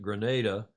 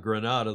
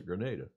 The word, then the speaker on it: Grenada: Clark Chapin is saying think Grenada the one we invaded not Grenada the city in Spain in the Caribbean they pronounce the Grenada okay now another preview